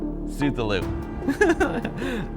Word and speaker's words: Cthulhu: Cthulhu. I pronounce it right, they don't.